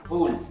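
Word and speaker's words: wool: W double O L Harry दस W double O एल वूल एक और बात वूल हैरी की गलती नहीं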